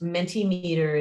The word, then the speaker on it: Mentimeter: Mentimeter is Mentimeter.